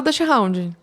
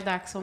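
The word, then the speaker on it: Dachshund: d Hound tá e não se fala Dutch Hound a gente fala de popular sim a pronúncia darxon Ah é darxon É uma um alemão então é daxon tá gente de daxon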